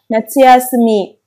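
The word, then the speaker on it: 夏休み: Kết bởi cách đọc kunyomi và đó chính là natsuyasumi.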